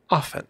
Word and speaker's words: often: you will find that the t is over pronounced in words like often most often we will say often but but in the Mid-Atlantic Transit Atlantic accent that t is very strong often I often find